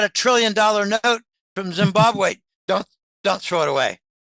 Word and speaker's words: Zimbabwe: and rather important manner it's called Zimbabwe the second B is not a hard beat Zimbabwe um anyway interesting especially